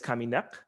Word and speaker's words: kaminek: This means dead, and it's kaminek. And the final syllable bears stress. Kaminek, kaminek. You hear nek, nek is the stress syllable.